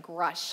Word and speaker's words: Grush: A Grush. How do you spell that?